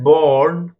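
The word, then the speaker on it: born: Dear students, ये जो है बॉर्न, इसे आर के साथ भी हम प्रोनाउंस करते हैं और आर के बगैर भी। बॉर्न भी आप स्पीक कर सकते हैं, प्रोनाउंस कर सकते हैं, और बॉर्न भी, क्योंकि जो ब्रिटिश इंग्लिश है उसमें आर साइलेंट पढ़ा जाता है, बॉर्न, जबकि जो अमेरिकन इंग्लिश है उसमें हम आर भी प्रोनाउंस करते हैं, बॉर्न।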